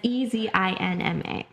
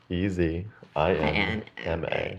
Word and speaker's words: Ezinma: Yeah, it's Ezinma. Easy INMA. And it's silent.